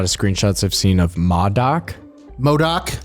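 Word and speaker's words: MODOK: been a lot of screenshots I've seen of Modoc Modoc Modoc yeah that's how you pronounce it and it is the same actor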